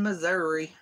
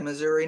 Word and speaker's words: Missouri: too so I'm in Missouri and police say Missouri not Missouri if our people say oh if you're from Missouri it's really pronounced Missouri no it's not it ends with an i spaghetti in split